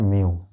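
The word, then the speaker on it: mu: आई by sine are बराबर हम लोग इसको म्यू कहते हैं दोस्तों। क्या कहते हैं? म्यू, है ना। इसका प्रोनाउंसिएशन होता है म्यू।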